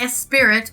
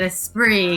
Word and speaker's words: Esprit: Not Esprit, but Esprit, because it's French. It rhymes with free.